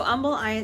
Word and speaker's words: Humble: It's pronounced Humble, even though it's spelled like humble. So whenever you come to this area of town, make sure you say Humble or people are going to know you're from out of town.